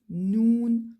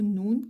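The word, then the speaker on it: نون: Et donc, elle se prononce noun. C'est la lettre noun qui correspond au N en français.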